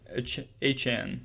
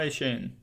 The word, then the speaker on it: Achane: Devin Achane is how you say it, not Achane. Achane. I got to correct myself.